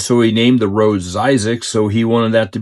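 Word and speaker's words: Zzyzx: across this off-ramp that I pronounce it Zizix, which I think is how you pronounce it.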